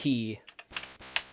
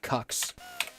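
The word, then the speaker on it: χ: Key, also called Cux, is What? Kingdom Hearts Unchained Key, but Key is spelled with the letter X. So the game is called KHUX, and so the fans call it Cux.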